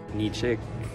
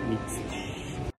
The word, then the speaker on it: Nikšić: And once we knew it existed, it took us a long time to say it properly. Nitschik. Nischik. Nischii. Nitschik. Nitschik. Nitschik. Nitschik. Nitschik. Nikšić. Nikšić. But s*** happens, so let's